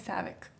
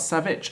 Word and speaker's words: Savic: what's the second name my second name is Saavik ba bo and it's not savage I always thought the said my name is